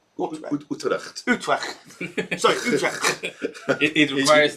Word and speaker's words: Utrecht: Utrecht, have I pronounced that right? Utrecht.